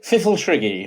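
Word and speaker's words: Pfifltrigg: The Fiffletriggy, I think, is the consensus on how you can pronounce it.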